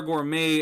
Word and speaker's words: gourmet: if it was star gourmet and you actually pronounced the t that would make sense but you don't pronounce the t in gourmet it's not gourmet because